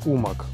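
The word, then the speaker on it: Umag: данном случае в городе умаг ударение ставим на ум xp это своеобразная выставка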